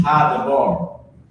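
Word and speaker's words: הַדָּבָר: And what this is ha-dabar. Ha-dabar. So I can put a little dash there. Ha-dabar, that's how you say it.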